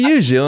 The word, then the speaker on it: Gilles: And thank you for pronouncing my name correctly. I'm doing my best, Gilles.